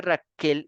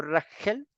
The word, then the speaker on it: Raquel: Entonces, ¿por qué se dice Raquel y no Rachel? Porque resulta que muchas de